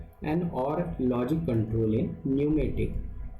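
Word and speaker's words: pneumatic: इसका लेखक का इच्छा है पूछने का, एन और लॉजिक कंट्रोल इन न्यूमेटिक, पी साइलेंट है, न्यूमेटिक system is possible with the help of sequence valve, shuttle valve, dual pressure valve और डिले वॉल्व।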